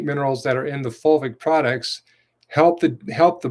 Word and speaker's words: fulvic: key nutrients is called fulvic minerals which is spelled f-u-l-v-i-c fulvic minerals not folate not folic acid full vic minerals and there's there are